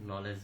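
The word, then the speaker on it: knowledge: এক্ষেত্রে কে উচ্চারণ হয় না। যেমন নলেজ মানে জ্ঞান নাইট মানে অশ্ব নি মানে হাঁটু।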